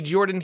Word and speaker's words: Jordan: Hello everybody, Jordan here, the PH is silent.